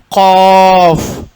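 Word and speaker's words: ق: அடி தொண்டையிலேருந்து சத்தம் வெளிப்படுத்த வேண்டும். காஃப்.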